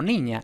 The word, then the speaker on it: niña: Ni es tónica, por tanto ni es ni, pero luego ño y ña es átona, entonces los ingleses van a tender a pronunciar exactamente ño y ña, es decir, ñ más schwa. pero claro, entonces no sabemos si es niño o niña.